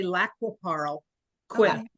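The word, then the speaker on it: Lac qui Parle: everywhere that uh you know there are local pronunciations but here they say laap Paro qu laap Paro okay and jul lives next to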